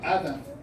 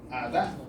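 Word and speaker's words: Adá: de Lamec, dice ahí, nosotros decíamos Ada, pero la expresión ahí es Ada, ¿verdad? Porque hay un acento en la A.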